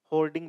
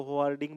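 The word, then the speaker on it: hoarding: होर्डिंग बोलो, होवार्डिंग बोलो, ये अलग अलग एक्सेंट के अलग अलग प्रोनाउंसिएशन है।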